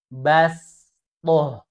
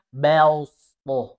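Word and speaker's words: بسطة: Bacanya bastoh. Bastoh. Bukan belstoh. Bukan bels. Tapi bastoh. Harus dibaca tipis.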